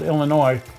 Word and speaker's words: Illinois: Hobbies in Winfield, Illinois, I shouldn't pronounce the S, Winfield, Illinois, got a hold of